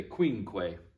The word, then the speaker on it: quinque: for four is quattor number five is quincue say queen quay good job quinque is